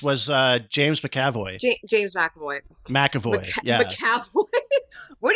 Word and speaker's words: McAvoy: Oh, the young Professor X was James McAvoy. James McAvoy. McAvoy. McAvoy. What do you mean? Well, there's no A. It's spelled without an A.